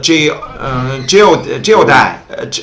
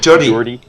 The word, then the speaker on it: Geordie: Newcastle, about geodai, how to pronounce? Geordie, and for Yorkshire, and about here we can also Northern Ireland.